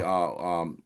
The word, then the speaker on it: DeCarlo: After Brad Delp died, Boston went out and did a tour, and they hired a new singer, this guy Tommy, who Tommy, DeCarlo.